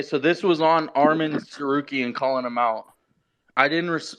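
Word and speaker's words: Tsarukyan: think I'm worried about freaking Armin sarukian with a silent T at the beginning of his name he continued it was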